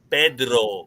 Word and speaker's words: Pedro: with a K but in Spanish my name is Pedro because you have to roll the r Pedro the C